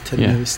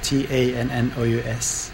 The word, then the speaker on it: Tannous: And it's pronounced. It's Tannous, Tannous.